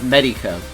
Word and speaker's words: Medico: pronounces it wrong, but the correct way is Medico.